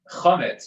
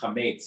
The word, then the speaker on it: chametz: And when I started thinking about it, I realized that the Hebrew word chametz, which we know from Passover, or chametz, and the modern Hebrew pronunciation, that ties all of this together.